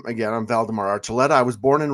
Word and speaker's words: Valdamar: moves so fast no so so valdemar and I'm I'm pronouncing that correctly right yes you are oh perfect at least